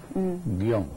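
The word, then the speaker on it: guion: El guión ahora no se acentúa, pues se pronuncia en un solo golpe de voz. Es una sílaba, guión.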